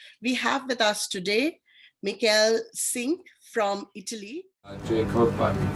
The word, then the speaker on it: Michele: Yilmaz, Michele, am I pronouncing that right? Is it Michele? It's Michele, but Michele.